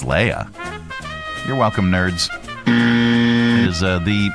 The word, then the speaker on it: Leia: 99.9% of the time on Earth, it's Leah. 99.9% of the time on Aldderon, it's Leia.